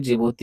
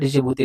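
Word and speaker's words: Djibouti: डिजिबूती लिखा है ना, इसको जिबूती पढ़ा जाता है, डिजिबूती नहीं पढ़ा जाता है। डी यहाँ पे साइलेंट रहता है।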